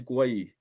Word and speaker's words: Gueye: Guys, put down below how do you pronounce the centre back from Palace. It's Gueye. In my opinion, it's Gueye. I I don't thought think it it's was gay.